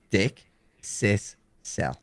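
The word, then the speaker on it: dickcissel: The way that they phonetically broke it out is Dick, Sis, Cell.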